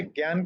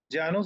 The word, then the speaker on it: जानु: आपने इससे पहले ज्ञान के बारे में पढ़ा था ना, ज्ञान की स्पेलिंग क्या थी? JANANE। JNANE, यस। और यहाँ पे JNANU, तो इसको ज्ञानु तो नहीं कहेंगे, जानु शीर्षासन कहेंगे।